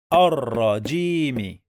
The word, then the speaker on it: الرجيم: Then we pronounce ra 2 times because we have shadda here. The first time always with sukun.